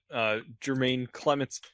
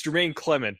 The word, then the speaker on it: Jemaine Clement: mine nice it's got Jermaine Clements Clement mrs. Vick was he's gotta give me about this guy we say wrong it's Jemaine Clement because she says I